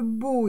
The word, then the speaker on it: beau: B, le beau ici, beau, c'est B-E-A-U. E-A-U, ça fait le son O.